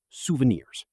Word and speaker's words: souvenir: Yes, souvenirs. It is originally a French word, so the pronunciation can be a little bit tricky for English learners. The emphasis is on the very last part of the word, souvenir.